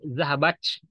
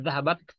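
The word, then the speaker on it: ذهبت: Bukan C ya. Bukan zahabach. Zahabach. Bukan C ini. Tapi zahabat. Yaitu taknya sedikit. Dibuang udaranya sedikit. Jadi alhamas sedikit. Mendesisnya kecil sekali. Zahabat. Itu cara pengucapan tak dalam bahasa Arab.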